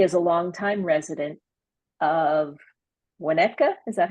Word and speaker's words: Winnetka: He is a longtime resident of Winnetka, is that how you pronounce it?